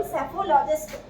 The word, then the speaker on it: psephologist: क्या बोलते हैं हम, सेफोलॉजिस्ट। इसकी स्पेलिंग आपको याद रखेंगे, P इसमें साइलेंट होता है, LOGIST, PSEPHOLOGIST, क्या बन जाएगा, सेफोलॉजिस्ट।